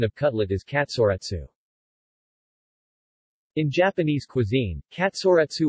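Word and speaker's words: カツレツ: the fashionable Ginza district of Tokyo the Japanese pronunciation of cutlet is Katsura Tzu in Japanese cuisine Katsura - or shorter katsu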